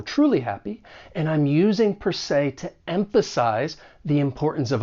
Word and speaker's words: per se: Even though it's spelled s e, you're going to pronounce it with that long a sound. Say, per se.